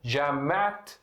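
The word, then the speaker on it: جامعة: Ela continua tá marbuta, só a pronúncia dela vira como fosse letra T. Então fica Jamat São Paulo.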